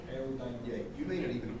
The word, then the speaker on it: eudaimonia: That's Greek. Eudaimonia. That's how it's pronounced. Eudaimonia.